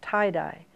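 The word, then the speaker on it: Thai Die: In fact, the one that's coming out in December, Tie-Dye, and it's spelled T-H-A-I-D-I-E.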